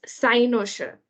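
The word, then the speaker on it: cynosure: make so today's word of the day is sinosure it's spelled c y n o s u r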